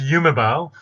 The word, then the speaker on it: Yumebau: Okay, the name is Yumebao. So it's actually made of two words. Yume means dreams in Japanese, and bao like Bauhaus.